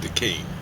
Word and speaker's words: Duquesne: Duquesne, that's how you say it.